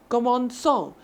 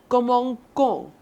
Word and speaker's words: commençons: Commençons. But since there's no cedilha here, it will be pronounced how? Commençons. That sounds really weird. And it sounds kind of harsh. It is really rough.